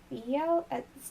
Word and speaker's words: Theoi: Is that pronounced like Theo? It's Theoi.